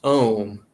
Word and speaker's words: Om: spelled now it's pronounced ohm but it's spelled a u m a and u beside of each other in sanskrit is pronounced o but if you separate